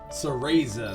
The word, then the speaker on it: Cereza: Cereza, that's how you pronounce it.